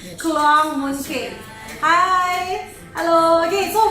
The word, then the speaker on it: Kluang: Then, here a special promo is called as Kluang Mooncake. Did I pronounce it correctly? Kluang Mooncake.